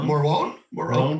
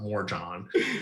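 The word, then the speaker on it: Morejón: How did we decide we were going to say his name? Morone. Adrian Morone. Thank you. I was just like, I know it's not Morjon.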